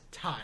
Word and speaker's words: Ty: that's what it is it's just one syllable two letters thai it's easy and then